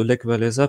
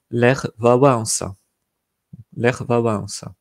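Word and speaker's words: Lech Wałęsa: ce qui pense de Lecques valaisa personne va comprendre de qui vous parlez parce qu'en polonais ça se prononce l'air va avoir ça donc c'est pareil il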